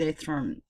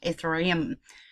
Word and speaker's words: Ethereum: thought I'd do one on what's wrong with a throne sorry but pronouncing correctly if the room ether I am the Ephraim underperform light last month in August